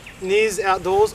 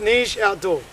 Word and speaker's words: Niche Outdoors: a channel called, well, I pronounced it Niz Outdoors or NYZ Outdoors. Well, I asked him, and boy did I have it wrong. It's pronounced Niche Outdoor, as in like Niche. It's like Polish pronunciation, Niche Outdoors.